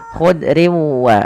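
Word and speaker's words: خضر: Memasukkan tanwin kepada huruf waw sehingga bukan lagi dibaca khudrin wa abqari tapi khudriu sambil ditahan dengan gunnah sepanjang 2 harokat.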